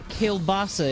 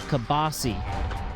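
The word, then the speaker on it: kielbasa: uh kilbasa if I want to pronounce it like the correct way but as we pronounced it in the Nukem household growing up. Kabasi. It's Kabosi.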